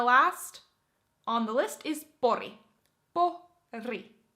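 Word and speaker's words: Pori: All right, and then the last on the list is Boori. Boori. Boori. Oh, my R's are a bit weird there. Boori.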